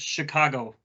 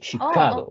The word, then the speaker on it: Chicago: can you hear me yes Nate uh it's pronounced Chicago you see Chicago okay okay it's actually a Native American like